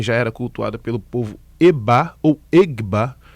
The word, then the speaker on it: Egba: povo EBA ou Egba, que na escrita é EGBA, né? E GB A. Mas aí na pronúncia africana esse G é mudo. Mas aqui no Brasil de algumas de alguma forma algumas pessoas começaram a reproduzir como Egba.